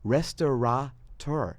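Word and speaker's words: restaurateur: They It's spelled restorator. There's no N, which makes no sense at all.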